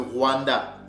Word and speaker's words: Rwanda: Donc Rwanda, Luanda, c'est le même, ce sont toujours des Bantous qui ont donné ce nom-là, d'accord? Donc le R a le son du L. Donc ce mot-là se prononce Wula, Wula ou Yuwula, qui veut dire la peau.